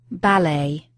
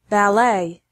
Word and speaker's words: ballet: stress of certain words listen to the pronunciation first the British English and then the American English adult ballet ballet brochure brochure garage vaccine